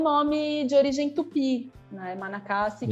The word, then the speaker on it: Manacá: não tivesse nenhuma diferença a pronúncia exatamente a mesma você fala Manacá em português ela na cama na